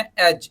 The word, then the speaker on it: edge: Word दिया है हमें एज, EDGE, तो यहाँ पे जी से पहले का जो डी है वो साइलेंट हो जाएगा।